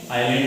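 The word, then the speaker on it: island: आइलैंड इसको बोलते हैं। आइलैंड की स्पेलिंग ध्यान में रखना, एस उसमें साइलेंट है, एस उसमें साइलेंट है।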